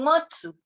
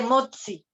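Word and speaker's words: 持つ: Igual con motsu. No existe motsi. Ni existe moza. No. Existe ta, chi, tsu, te, to.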